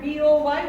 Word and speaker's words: boy: Boy, not boy. Boy. Like this. And look, there are two syllables. When in vowel there will be two syllables, that is diphthong.